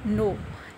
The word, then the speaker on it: know: सिक्स इज नो KNOW नो. इसमें के silent है, इसे हम नो पढ़ते हैं.